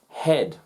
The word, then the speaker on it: head: you can consistently and repeatedly recognize when a silent letter is present i'll call it how cool is that so the words ballet head chrome so ballet ballet a form of dance